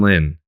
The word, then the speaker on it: Lin: well how did you say Jeremy Lin noon Lin that's how you pronounce it it's been a long time since